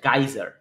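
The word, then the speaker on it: geyser: এটা অন করলে করে রাখলে গিজার এটার আরেকটা উচ্চারণ হছে গাইজার বানানটা দেখে নেই আমেরিকানরা এটাকে গাইজার বলে ব্রিটিশরা এটাকে গিজার বলে আমাদের দেশে এটাকে গিজারই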